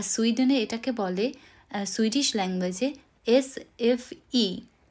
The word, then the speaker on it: SFI: এটাকে বলে সুইডিশ ল্যাঙ্গুয়েজে এস এফ ই এখানে সুইডেনে আই কে কিন্তু উচ্চারণ করা হয় ই বলে তাহলে এস এফ ই আর